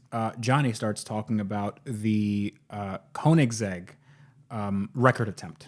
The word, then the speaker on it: Koenigsegg: starts talking about the Koenigsegg record attempt I think it's pronounced kerning zig zag you have to say it with it with an R like you just cashed